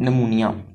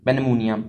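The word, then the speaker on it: pneumonia: Next जो हमारा topic है, दैट इज़ अबाउट नमूनिया, पेनमूनिया, इसमें पी साइलेंट है।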